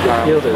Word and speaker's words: Yildiz: Started at 2600 RPMs, now it's at 2663, and this is Yildiz, has a smile on its face. Yildiz is how you pronounce it.